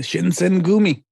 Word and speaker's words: Shinsengumi: But no, I mean, it's just about a young Ronin who applies to join the Shinsengumi. I think that's how you say it. Yes, that is correct. The Shinsengumi, the last wolves of Nibu.